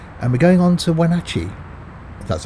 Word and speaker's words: Wenatchee: to last time and we're going on to when Archie that's how you pronounce it with a lot of grain in